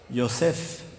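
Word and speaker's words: יוסף: José, ¿cómo se dice en hebreo? Yosef. Entonces la J no se pronuncia así en el hebreo.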